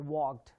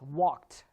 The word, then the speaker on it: walked: it's written ed which says wagged you don't pronounce it as wagged the idi sound here becomes ta so it's walked that's how you say it so it's t